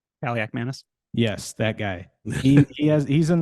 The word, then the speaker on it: Kaliakmanis: Pronunciation. Kaliakmanis.